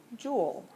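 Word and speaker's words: joule: Um, and so it's pronounced like jewel, right? Like a jewel in your crown.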